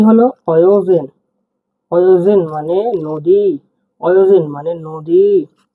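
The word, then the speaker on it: Өзен: অয় হিসেবে উচ্চারণ হবে, দেখুন। অয়োজেন। অয়োজেন মানে নদী। অয়োজেন মানে নদী। অয়, জেড ই এন, কি হলো? অয়োজেন। অয়োজেন মানে নদী।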